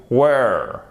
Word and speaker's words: were: You were. He, she, it was. We were. You were. They were. OK? Donc, attention à chaque fois à la prononciation ici. Faites vraiment attention. Were. Where.